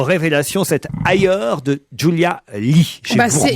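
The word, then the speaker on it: Leigh: il est signé Julia Lee j'imagine qu'on prononce lit ça s'écrit l e i G H c'est publié chez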